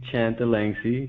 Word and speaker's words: Chanthalangsy: see the last name you can just pronounce it the way it's spelled and I think you